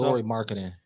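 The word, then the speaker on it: Lauri Markkanen: pronounce his last name. Who? Laurie Mark Cannon from Utah. Laurie Marketing.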